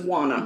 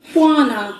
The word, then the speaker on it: Juana: Her name is Juana. Juana. Juana. I don't know. There's not a Q. Juana. Stop saying Juana. I'm saying Juana, like Juan.